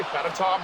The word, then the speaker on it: Fedotov: Fedotov just sounds weird. I want to say Fedotov, but apparently that is the correct pronunciation.